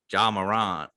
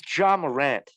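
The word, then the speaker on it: Ja Morant: job or jason tatum you just pronounce john ron what are you french i believe it's john morant a lot of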